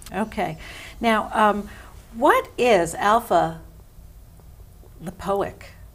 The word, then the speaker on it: alpha lipoic: now um what is alpha lipoic did I say it right that's great yeah you did alpha lipoic and how do we